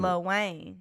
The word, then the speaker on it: Lil Wayne: Lil We Wayne. was doing too much. Doing 2 syllables. Code switching. Little. Oh, look, she got me for the Yeah, code you switching. did. Lil Wayne.